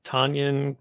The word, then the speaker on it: Tonyan: Yeah, Tonyan rhymes with Funyun.